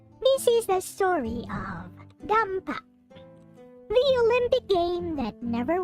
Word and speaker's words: Dampa: So it's pronounced as Dampa.